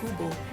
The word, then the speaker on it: QBO: QBO, pronounced as Kubo, is the country's first